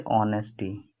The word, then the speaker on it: honesty: है, जैसे ऑनेस्टी, HONESTY, ये एच से शुरू होता है, लेकिन इसके पहले हम लोग एन का प्रयोग करते हैं, क्योंकि यहाँ पर एच साइलेंट होता है और ऑनेस्टी हम लोग पढ़ते हैं।